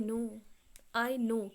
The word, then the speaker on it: know: अब जैक क्या कहता है, आई नो, KNOW, के साइलेंट, नो माने जानना, आई नो माने मैं जानता हूँ, राइट येस मैं समझ सकता हूँ, बिल्कुल सही कह रहे हो.